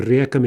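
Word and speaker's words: река: So let's look at reka, right, two-syllable feminine. In the plural, the stress jumps back. We get reki, and we keep that stress throughout the plural.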